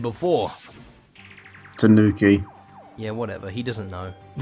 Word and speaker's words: tanuki: Have I been saying it wrong this whole time? Fine, fine. Calling it a Tunaki.